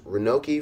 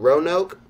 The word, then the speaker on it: Roanoke: jessica from Eldorado pronounces renault key Virginia I don't know run out roanoke okay in Jessica from Roanoke